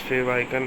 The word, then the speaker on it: favicon: which represents your website the word favicon is pronounced as fave icon it is commonly found